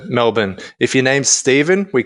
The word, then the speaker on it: Melbourne: to go to Melbourne which is the Australian way of saying Melbourne um I see what you did there yeah you like that that's that's how we Americans say it Melbourne well it's the it's the correct way of saying it we're just lazy and we shorten everything to Melbourne if your name's Steven